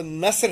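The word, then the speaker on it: नस्र: और जैसे, अच्छा नज़म ना कभी कहा करें, नज़्म है लफ्ज़, तो ऐसे नसर, नसर जो उसका सही तलफ़्फ़ुज़ या प्रोनाउंसिएशन है वो नसर है।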